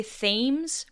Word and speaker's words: Thames: spelled t-h-a-m-e-s which looks like it should say Thames but it's pronounced Thames you're welcome London's sewage was being